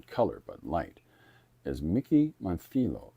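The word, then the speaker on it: Montllo: I think it's pronounced Monthilo. If I'm pronouncing that wrong, please let me know. M O N T L L O. And a friend of mine told me that's Montho, like a th sound, you know.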